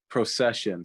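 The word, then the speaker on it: Procyshen: first round graphic ethan pro cizen is that how you pronounce it procession so like a wedding perception got it okay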